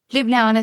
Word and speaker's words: Ljubljana: I'm from my office in Ljubljana, which many people cannot pronounce. Ljubljana, Slovenia.